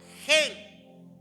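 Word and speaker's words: חן: Y en el Antiguo Testamento se usaba la palabra hebrea, hebrea gen, que se escribe h e n, pero que se pronuncia gen con jen.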